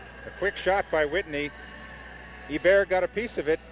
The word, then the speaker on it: Hebert: Here's a man from Troy, New York, and he pronounces his name Guy Hebert as opposed to Guy Hebert.